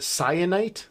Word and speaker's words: Syenite: Our third main character is named Cyanite. That's spelled Syenite.